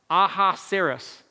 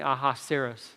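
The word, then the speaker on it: Ahasuerus: by a different name he goes by his Hebrew name that's how they pronounce it so it's aha serous can you say that with me aha seros I think that's right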